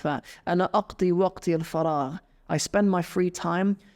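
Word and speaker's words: فراغ: So yeah, for example, I mentioned the example of waqti al-farigh or waqti al-faragh. I've mostly heard waqti al-faragh, not my free time. Of course, it's spelled fa, ra, and ghain, for those of you wondering.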